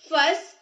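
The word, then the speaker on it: fuss: इसके सिनोनिम्स होते हैं इरिटेट, फस, अनोइय, इरिटेट, फस एनॉय। इसको हम फ्यूज नहीं बोलेंगे।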